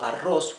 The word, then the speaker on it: arroz: here in green rice remember the double r means you pronounce it the hard r when we say yo ago arroz we mean i am